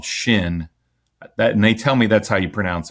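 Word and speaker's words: Chêne: foul specific company called Shin that and they tell me that's how you pronounce it. It's a French word ch e with a hat ne.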